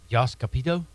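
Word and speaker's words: Jost Capito: he personally if I'm Yos capito that's how you say his name I don't know close enough close enough If Logan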